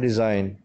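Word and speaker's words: design: Next word है डिज़ाइन। डिज़ाइन, डिज़ाइन में जी silent है और एस को हम प्रोनाउंस करेंगे जेड के साउंड में डिज़ाइन।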